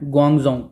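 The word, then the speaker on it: Guangzhou: देखो, इसको किस तरीके से प्रोनाउंस करना है, ग्वांगजो या घूम जाऊँ, घूम जाऊँ, है ना।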